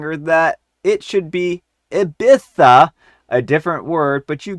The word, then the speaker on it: Ibiza: For example, instead of saying Ibiza, she would say Abissa.